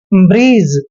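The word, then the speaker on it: bridge: डी आया है तो जी से पहले जहां भी डी आता है वहां डी हमेशा साइलेंट होता है तो इसको पढ़ेंगे हम देखिए बी का उच्चारण ब करते हैं और आर को र पढ़ते हैं आई को छोटी ई की मात्रा और जी ई का उच्चारण ज करते हैं डी हमने पढ़ना ही नहीं है ब्रीज ब्रीज पढ़ेंगे इसको इसको देखिए ई डी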